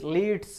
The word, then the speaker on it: lead: My father always लीड्स मी, my father always लीड्स मी, मेरे father हमेशा मेरा नेतृत्व करते हैं।